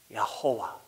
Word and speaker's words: Yahowah: holy name of God, instead of saying Jehovah, let's do it the way the Hebrew actually has it written and how we would pronounce it. All right? So listen carefully. Again, you want to make sure you don't use any of the consonants. So it's Yahowah.